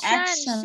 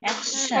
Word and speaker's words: action: বারবার আবার শন করতেছেন why is it T-I-O-N action shan, shan. action action action action in an emergency action alternative action taking action in a Emergency.